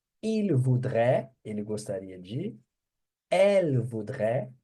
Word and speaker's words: voudrait: Então a pronúncia é a mesma. Je voudrais, il voudrait, elle voudrait, on voudrait.